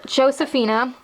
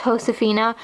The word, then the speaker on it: Josefina: was like my favorite doll that year is Josefina or properly pronounced ho Safina Colleen got her for a good report card